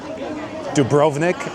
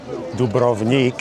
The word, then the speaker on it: Dubrovnik: Drovnik, as Americans would say it, or Dubroik, if we're going to pronounce it correctly.